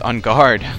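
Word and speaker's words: Enguarde: a you poor thing like it's UNG guard like you know like uh he's like a swordfish like in fencing you know on guard that's how you pronounce it but anyway I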